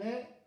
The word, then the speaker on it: es: Isan est à Egon. Alors, terminaison. Terminaison, je suis. Le S ne se prononce pas. Tu es. Le S ne se prononce pas.